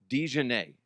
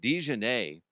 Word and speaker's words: DiJonai: Now, DiJonai, I believe is how she pronounced it. DiJonai, immediately after getting ejected,